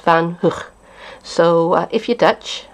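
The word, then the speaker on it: van Gogh: a painter who I've always referred to as van go but apparently it should be pronounced van H so uh if you're Dutch I hope I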